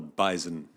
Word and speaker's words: bison: name of the animal that is called the bison. It is. It does have a Z. I agree with. It's got a Z. B-I-Z. It's a Z that, well, it's not a silent Z.